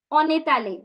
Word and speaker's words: on est allé: Now, just one tip. On est allé. So you're going to connect the sound, okay?